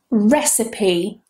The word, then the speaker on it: recipe: Recipe. Recipe. Recipe. Not receipt. Careful.